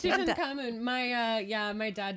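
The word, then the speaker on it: Tutankhamun: is short for tutan thank you I couldn't pronounce it so I short for did you actually yeah it's tutan cun my uh yeah my dad did like his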